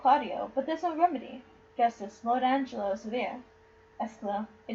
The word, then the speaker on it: Justice: It looks like Just, but I don't think that's how you pronounce it. Justice. No, it is Justice.